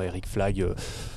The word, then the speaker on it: Éric Flag: Eric Flagg, ça s'écrit comme ça se prononce, et c'est aussi pour ça que j'ai choisi ce nom.